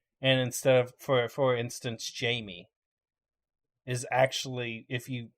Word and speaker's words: Jamie: instead For for instance, Jamie is actually, if you pronounce it out, the way it's spelled is haimey. According to Google, it's got a Spanish pronunciation.